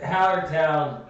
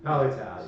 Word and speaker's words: Hallertau: Two words that are very difficult for Nick to pronounce. Tettnanger. Yeah, and Nosferatu hops. Yes. It's Nosferatu. not Nosferatu. Hallertown. Hopsferatu. Yeah, it's Halleratu. Hallertown. Hallertau. Hallertau, yeah.